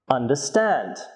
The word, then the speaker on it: understand: Some three-syllable verbs have stress on the third syllable. For example, understand, introduce, overcome.